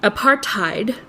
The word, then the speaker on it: apartheid: that's a good question so apartheid apartheid uh is how uh I suppose a Dutch person would pronounce it um it h it